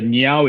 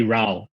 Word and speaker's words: Ngeow: last name uh the the mandarin phonetics actually rao rao uh so even more confusion right like you know the chinese pronunciation is rao but the hakka pronunciation is right yeah so so so there's there's no there's no correct way to pronounce it but if you wanted to be dialec accurate is meow which is not which